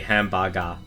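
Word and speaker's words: ハンバーガー: say hamburger in japanese they literally do say hambaga like it if you're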